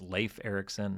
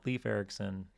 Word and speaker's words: Leif Ericson: Um, one of them, one of the very first um, emails I ever got, somebody pointed out that it's Leif Ericson, not Leaf Ericson.